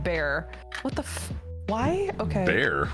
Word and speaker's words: Bexar: We have a county here called Bexar County, but it's pronounced Bear.